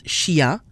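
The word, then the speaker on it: chien: If we compare the two words chia and ingrédient, we'll see that even though they both appear to have the combination I-E-N, which we said is pronounced ya, the combination sounds different in each word. Chia, ya, but ingrédient, yan.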